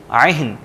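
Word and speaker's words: عهن: یہاں پر ایک تو عہن عین کو انڈرلائن کر لیں, ہم اہن کہتے ہیں عہن کالعہن, اور منفوش شین باقاعدہ پرومیننٹ ہم نے کرنا ہے منفوش.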